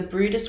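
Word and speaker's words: Bryde's: So our first one we do have is the Brutus whale. So it's spelled b r y d e s.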